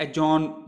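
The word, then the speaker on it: adjourn: बाद बी आए तो एम बी जो है साइलेंट हो जाता है, ठीक है। इसी तरीके से अब यहाँ पर देखा हम एजॉन मोशन, एजॉन यानी कैंसिल करना कोई ठीक चीज़, ठीक है।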